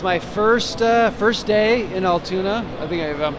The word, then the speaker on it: Altoona: Yeah, it's my first day in Altoona. I think I'm pronouncing that right.